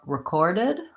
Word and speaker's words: recorded: the ER or and for recorded syllable stress is on the second syllable and there's our bow like we were talking about in resume recorded lastly I have the